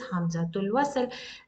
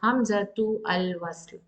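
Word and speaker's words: همزة الوصل: Hamzatul wasl. I'm not pronouncing as hamzatu al wasl. If you are pronouncing it, that means it is a different hamza.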